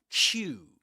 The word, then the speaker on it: queue: So going back to Q, the the letter the word Q which is pronounced just like the letter Q. Okay, Q. Repeat after me on Tik Tok and YouTube. Q.